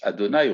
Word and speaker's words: Adonaï: et leur rhm uk marqué que l'on prononce adonaï on prononce pas le nom du même signifie traditionnellement on